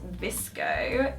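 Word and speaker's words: VSCO: and then I have vssco cam um which some people pronounce visco cam um it's a bit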